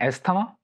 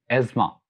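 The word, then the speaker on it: asthma: का नेम है, और इसको लोग प्रोनाउंस करते हैं एस्थमा, हालांकि एस्थमा नहीं है, actually it's एज्मा, एज्मा, quite different, not एस्थमा बट एज्मा।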